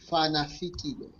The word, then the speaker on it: Fanafikile: It's Fanafikile.